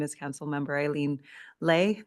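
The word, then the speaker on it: Lê: My name is Councilmember Eileen Lay. The name is spelled L-E. There's an invisible hat over the E. It is a Vietnamese word, is a short word. That's the pronunciation, Lay.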